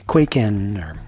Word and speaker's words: Kwaiken: bokor plus quakin or some say quakin however you personally choose to pronounce it I've wanted one of